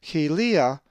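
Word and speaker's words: κοιλία: If you said helia, you are correct, for the accent is over the iota. Helia.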